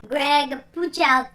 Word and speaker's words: Greg Puciato: they drop titled d greg push out to-- greg couch out there i had to figure out how to